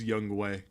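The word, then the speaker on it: Younghoe: board ah let me get Yung Hoku it's pronounced young way I thought day would you like some glasses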